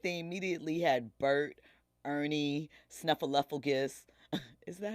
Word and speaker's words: Snuffleupagus: There's only 4 people that run their social media account, but they immediately had Bert, Ernie, Snuffleupagus. Is that how you say it? Snuffleupagus?